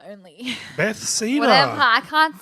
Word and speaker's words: Bethesda: and it's through Beth Cedar only. Bethesda.